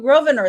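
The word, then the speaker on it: Grosvenor: instead of saying that never mind uh Hugh groer thank you for correcting me in the pronunciation people are still going that they think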